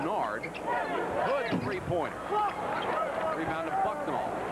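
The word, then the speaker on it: Nared: N-A-R-E-D is how it's spelled. Pronounced Nard.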